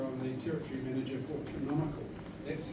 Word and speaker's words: Canonical: I'm the territory manager for Canonical. That's how you say it. So, Canon-ical.